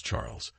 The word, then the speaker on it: Charles: Charles, pronounced the French way as Charles, struck me as your typical Eurotrash type.